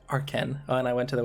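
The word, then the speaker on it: Arcen: it's a are cen so some people say arson they're like no it's Arkin games so so it's funny when you have to express like this house pronounced are Ken and I went to the website that it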